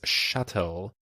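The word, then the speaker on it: chattel: in patriarchal systems as shuttle or a personal possession ah that word is not pronounced like cattle women aren't actually considered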